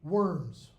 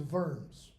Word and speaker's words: Worms: It's a thing called the Diet of, use American pronunciation in English, Worms. But it's W-U-R-M-S. The German pronunciation is Worms.